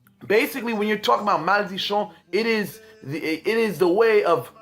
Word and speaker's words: Maldicion: Now, Maldicion, some people pronounce it as Maldicion in Creole, but the correct pronunciation is Maldicion, you know.